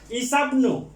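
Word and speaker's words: عيسى ابن: এই যে ঈসার সাথে ইবনু, এই যে ইবনুর যে আলিফটা, এই আলিফটা হামজাতুল ওয়াসলি, হামজাতুল ওয়াসলি, এটা উচ্চারণ হবে না। ইসাবনু, ঈসা ঈসা বার সাথে মিলতে হবে, ইসাব ইসাব ইসাবনু ইসাবনু মারিয়ামা।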